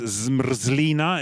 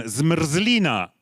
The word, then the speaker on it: zmrzlina: The pronunciation dictionary says zmrzlina. Is that anywhere near? Okay, so everyone, zmrzlina.